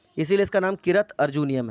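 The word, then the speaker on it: किरातार्जुनीयम्: ठीक है, भरवी की एक बहुत फेमस किताब है कृतार्जुनियम, सॉरी इसकी प्रोनाउंसिएशन एक्चुअली है किरत अर्जुनियम।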